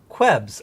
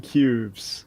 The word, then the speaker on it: Qubes: a little bit about kwebs os kwebs you mean cubes oh i'm sorry i've just always heard people pronounce it kwebs anyway so a lot